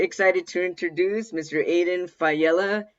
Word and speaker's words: Faiella: to introduce mr aiden fayela did i say your name correct yes thank you i'm excited to be here even more excited that you pronounced it right that's exciting you know